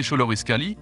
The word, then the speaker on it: Xoloitzcuintli: La mythologie aztèque a affirmé que Xolotl, le dieu aztèque de la foudre et de la mort, a fait le Xoloißcuintli, prononcé Xoloitzcuintli, de l'os de la vie, conférant au chien un pouvoir de guérison physique et spirituelle.